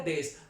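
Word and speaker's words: です: ए रहा होता है मोस्ट ऑफ डी टाइम ये हमारा साइलेंट होते हैं तो लिखने में तो ये देश है लेकिन बोलने की जब बात की जाएगी तो ये बोला जाएगा देश तो बहुत इजीली है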